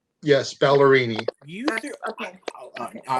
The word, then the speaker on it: Ballerini: I don't know how to pronounce her last name, so do not come for me. It's Ballerini. Yes, Ballerini.